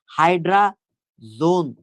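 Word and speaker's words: hydrazone: হয়ে যায় তখন 2,4-ডাইনাইট্রোফিনাইল হাইড্রাজোন। এইখানে উচ্চারণটা হবে হাইড্রাজোন, এইখানে কিন্তু হাইড্রাজিন।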